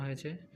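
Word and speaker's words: حاء: হা একটু ডাবিয়ে মানে হচ্ছে একটু গভীরভাবে এটা বলতে হয়।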